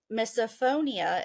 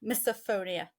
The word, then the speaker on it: misophonia: I made on our Facebook group about um misophonia if I'm pronouncing that right that's spelled m i s o p ho o n i a misophonia like I'm in the freaking spelling B um